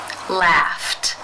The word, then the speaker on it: laughed: the unvoiced F sound since it's unvoiced it is case one where the Ed is pronounced as the T sound laughed laughed how do you